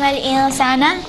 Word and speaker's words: الإنسان: And then you have عَلَّمَ الْإِنسَانَ. You have نون ساكنة followed by سين. Again, this is إخفاء. Don't pronounce the نون clearly when you have إخفاء. So it's going to be علم الإنسان.